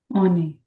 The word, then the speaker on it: on est: Whenever in French language a word starts with a vowel, the word vowels in French are considered weak.